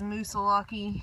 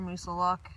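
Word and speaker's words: Moosilauke: About to go up this Musulaki here or Musulock, however you prefer to pronounce it.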